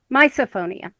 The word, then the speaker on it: misophonia: Misophonia. Yes. We're pronouncing it misophonia now.